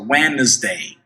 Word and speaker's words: Wednesday: Wednesday, preste atenção na pronúncia de Wednesday, que a gente não pronuncia o D, a gente vê o D ali, mas ele não é pronunciado. Olha só, Wednesday.